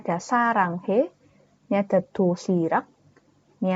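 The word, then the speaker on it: 사랑해: ada A dan yang di bawah ini dia dibacanya Eng ya kan Sa Rang baru itu ada H dan ini e sarang he nah R yang di tengah-tengah ini kan dia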